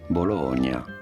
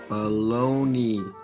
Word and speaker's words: bologna: It could be that Bologna was shortened to Bologne, and eventually the Y was tacked on at the end.